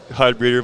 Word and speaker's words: Heidbreder: Heidbreder, or did I say that right? Heidbreder, but it's close enough.